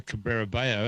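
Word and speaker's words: Cabrera Bello: out and then put the phonetic way to say it after it said rafa cabrera bayo and and you know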